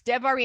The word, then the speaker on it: Devarim: It's Devarim. If you ever see an I, just as another, we'll add little tips along the way. So sometimes I'm like, how do you say that? If you see an I, it's an E, like a long E. So Devarim.